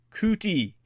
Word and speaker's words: Coutie: That's by a man named Bob Cootie. His surname is spelled Coutie, Bob Cootie, and as well review the award-winning independent film of a man named Con de la Cruz.